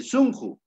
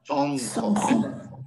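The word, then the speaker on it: sunqu: lo pronuncié aquí corazón Yo no dije zjo qué dije sonjo Pero por qué dije sonjo viene el tema profesor y algunos me van a preguntar pero acá dice está con u sonju Pero tú dices sonjo Ah Por qué dices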